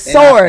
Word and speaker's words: sword: S and I tell you the W is silent. It's sword.